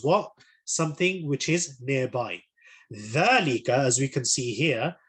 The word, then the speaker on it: ذلك: Dhalika, as we can see here, with the dhal, so again, reinforcing the correct pronunciation of dhal, dhalika, it is again also an indicative noun.